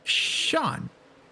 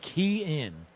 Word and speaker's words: Kean: Sean. That is wrong. It is Key In. Nobody in the world would have guessed that.